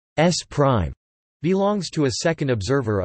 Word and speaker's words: S′: Frame S belongs to a first observer O, and frame S pronounced S prime belongs to a second observer O.